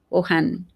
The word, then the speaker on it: Wuhan: The how do you pronounce it, darling? Wuhan.